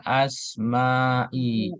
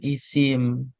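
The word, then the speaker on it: أسماء: Nah, ini kan ada bi, b-nya huruf jar, maka sudah pasti biddukuli alal asmaai. Ini bacanya asma bukan isim. Kalau isim itu bahasa Indonesia. asma.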